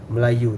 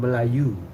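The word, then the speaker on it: Melayu: from you you know malayu that's why in Java the tribes got called malayu malayu the English they they cannot pronounce malayu so they say malay or malaya not anymore yeah I know because The British says it's Malaya.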